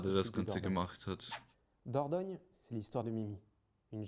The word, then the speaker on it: Dordogne: Wird also Dordogne ausgesprochen.